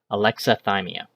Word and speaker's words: alexithymia: that i had to look up how to pronounce a l e x i t h y m i a it's called alexa thymia and it's the inability to determine one's inner